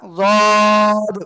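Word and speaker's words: ض: জিহ্বার গোড়ার কিনারা উপরে মাড়ির দাঁতের গোড়ার সাথে লাগিয়ে, জিহ্বার গোড়ার কিনারা উপরে মাড়ির দাঁতের গোড়ার সাথে লাগিয়ে তিন আলিফ টানিয়া যদ উচ্চারণ হবে। ঠিক আছে? যদ।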